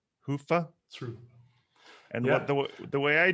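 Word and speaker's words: Hyvä: had seven different pronunciations i understand it's a finnish word hoofah and yeah the way i do it is i clinch my i clinch my butt cheeks and i say hoofah and it helps me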